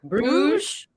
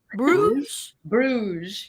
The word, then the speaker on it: Bruges: crew is in belgium bruce bruges you say it like rouge but i'll be honest